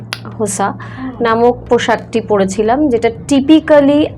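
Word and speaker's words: Xhosa: তাই আমি হোসা নামক যেটা আসল উচ্চারণটা হচ্ছে হোসা নামক পোশাকটি পড়েছিলাম।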